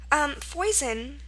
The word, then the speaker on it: foison: Foison, it looks like poison, and it's actually very, spelled almost the same way except with an F, and it's pronounced foison.